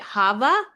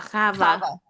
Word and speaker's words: Chava: think he pronounced the names in like digestible American sounds, which is totally fair. So he pronounced it Hava, but Hmm. it's probably like Hava. Chava. Chava and Right.